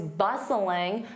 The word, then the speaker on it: bustling: You can say, "Downtown is always bustling because of its waterfront. So, downtown is along the water. That would be quite beautiful. So, notice I use to be bustling. Notice that T is silent.